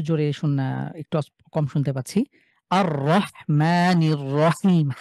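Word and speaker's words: ٱلرَّحْمَٰنِ ٱلرَّحِيمِ: একটু কম শুনতে পাচ্ছি আর রহমানির রাহিম হার উচ্চারণটা আরেকটু সুন্দর করতে হবে ভাই হ্যাঁ হার যে মাখরাজ কন্ঠের মাঝখান থেকে এটা ঠিকঠাক টানতে হবে হ্যাঁ আবার আর রহমানির রাহিম হ্যাঁ মাশাআল্লাহ সুন্দর এরপরে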